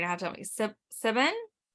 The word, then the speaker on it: Siobhan: with partner and co-owner, I'm not going to pronounce this correctly. You're going to have to tell me. Siobhan. Siobhan.